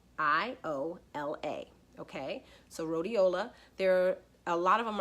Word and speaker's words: rhodiola: alright so the next herb is called Rolly rhodiola all right so that's another one and I'll spell it for you it's our H Oh D I oh la okay so rhodiola there a lot of them are found at